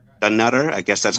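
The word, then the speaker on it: Dunnottar: Dunutter.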